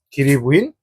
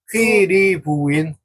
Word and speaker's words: 퀴리: 키리부인은 어렸을 때 길이부인 정확히 발음해 주세요. 정확히 발음해 주세요. 어떤 부인? 리부인 퀴 리 퀴리부인 퀴리부인 리 귀리부인 아니 리부인 리부인 응 입니다.